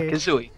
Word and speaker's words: Kazzoi: So, one thing I was thinking in my mind, how do I pronounce your full account name? Kazzoi? Oh, Kazzoi. Kazzoi. Like Banjo-Kazzoi, yeah.